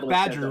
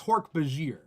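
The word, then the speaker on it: Hork-Bajir: By the way, like, you say one Hork Badger, right? Yeah. Because it's funny because this book series has so many alien words that like everybody like mispronounces or whatever, because like that's what you do when you read it, right? I do think it's Hork Bajir.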